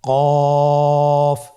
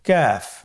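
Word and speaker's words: كاف: নম্বর হরফটির নাম হলো কাফ তৃতীয় নম্বর হরফটির নাম কাফ কাফ উচ্চারণের ক্ষেত্রে অবশ্যই পাতলা করে উচ্চারণ করতে হবে এবং তিন আলিফ টেনে পড়তে হবে।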